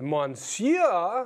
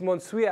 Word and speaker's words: monsieur: I think it's Monsieur. I think that's Mr., right? Monsieur? Monsieur? I think it's Monsieur. No, it's Monsieur. I like Monsieur better. But it's Monsieur. Okay. It's spelled Monsieur, but it's Monsieur.